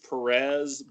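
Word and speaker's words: Pérez: was from the George Perez book the accent on the E Accent on the second e book and it's printed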